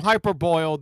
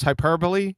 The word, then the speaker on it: hyperbole: The term hyperboil, that was from MC McBooger Eater McToon, hyperboil. He's definitely singing a different tune. I guess he doesn't know how to pronounce hyperbole, so he said hyperboil.